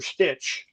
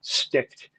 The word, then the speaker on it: Sticht: Stitch. She called him Mr. Stitch for 6 months or more until he finally said, "Your Honor, if you don't mind, it's pronounced Sticht."